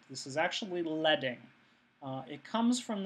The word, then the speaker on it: leading: space between the lines of type is called leing um it people often mispronounce this as leading that's not correct this is actually leing uh it comes comes from the fact that